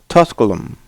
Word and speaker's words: Tusculum: st all hosts uh uh tusk apologize for mispronouncing this name tusculum and that game uh is going to be